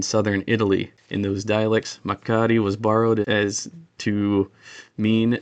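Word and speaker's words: μακάρι: So, it's supposed to be Makari e, not with a glottal stop, but it's supposed to be just a drawn-out Makari.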